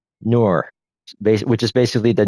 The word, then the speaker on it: Nur: and in the process, actually speaks its name out, which is Ner. That's spelled N for November, U for umbrella, and R for Romeo. Nur, which is basically the